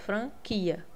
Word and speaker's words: franquia: A letra é, o som é direto, franquia, tá? U não faz diferença quando eu escuto, né, sonoramente.